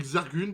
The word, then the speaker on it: Zargun: Eh ben on va partir avec Zargun parce qu'on aime prononcer les choses correctement ici.